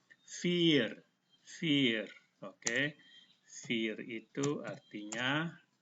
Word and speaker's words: vier: Lihat ini ada huruf I dan E. I-nya dibaca panjang, E-nya tidak usah dibaca. Jadi ini cara bacanya vier.